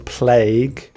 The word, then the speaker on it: plague: so this horrible spelling plague but it's pronounced like this with an a sound and the UE isn't really pronounced as plague will not